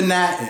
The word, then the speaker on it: gnat: cap is so small look how big the gnat is and what letter does not start with